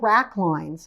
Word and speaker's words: wrack: are washed ashore by the tides are called rack or the rat community it's spelled w-r-a-c-k the rack consists mainly of dead